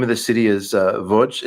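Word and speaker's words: Łódź: the city is uh V it's it's spelled like to Americans it looks like lodz but they say V and um I would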